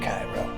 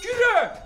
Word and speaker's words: Kyrö: For relaxing time, make it Cairo. Cut! It's pronounced Kura!